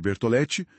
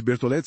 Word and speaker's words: Bertoleti: artigo recente do Petro Bertolette. Pronuncia-se Bertolete, certo? Isso mesmo, Bertolet.